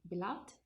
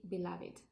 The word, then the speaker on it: beloved: The same happens with beloved. So the same, if it's in the past, it would be beloved, and if it's an adjective, it would be beloved.